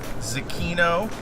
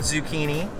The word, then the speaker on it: Zecchino: Zecchino, not zucchini. Don't pronounce it wrong, or people might think you're full.